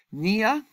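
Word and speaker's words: pnea: play gia is paralysis Nia means breathing the P is silent Police's means formation /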